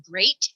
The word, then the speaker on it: great: Watch out for meat and great and threat. They rhyme with sweet and straight and debt.